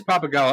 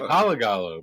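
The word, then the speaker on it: Pappagallo: Oh, it is Papagala. Yeah. I mispronounced it previously. I was like Palagallo, but I was like, whatever. Yeah, Papagallo.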